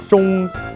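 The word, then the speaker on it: 钟: The first is the clock, and it's all because of pronunciation. For this, you would say zhong.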